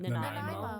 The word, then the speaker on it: Nanaimo: Is it in Nanaimo? I can never say it right. Nanaimo.